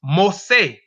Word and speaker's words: Mossi: according to recent and the ethnographic mu C pronounced most say or an ethnic or cultural group of farmers